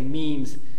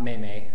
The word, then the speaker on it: meme: guys really quick about memes when I say memes M E M pronounced like team or dream it's not mayay okay a meme is